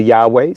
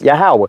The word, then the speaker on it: Yahawah: Yahawah Some would say Yahweh. Some would say Yahua but the ancient pronunciation is Yahawah.